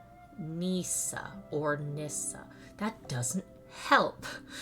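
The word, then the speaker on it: Nysa: In Nissa. No, hold on. How do I pronounce that? Hold on. Pronunciation. Nisa or Nissa.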